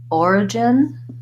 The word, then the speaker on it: origin: syllable so for example in origin it goes before this syllable it just means that you want these two syllables to be short origin and that you have a clear vowel and more length on that stress syllable and in your other